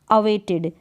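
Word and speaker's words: awaited: में दे रखा है अवेटेड, अवेटेड, इड करके ये ई डी को, ई डी आ रहा है ना, ई डी, तो लास्ट में, तो यहाँ पर क्या कर दिया, इड करके प्रोनाउंस कर दिया।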